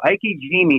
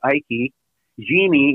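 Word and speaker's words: ikejime: So Ike Jime, first of all, you spell it like I-K-E, so Ike. Jime is G-I-M-E, Ike Jime.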